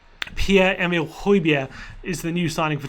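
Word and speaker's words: Højbjerg: to pronounce his name it's pierre emil hoybia not hoiberg which i've been guilty my brother's been guilty a lot of other people have been guilty of so pierre emil hoybia is the new signing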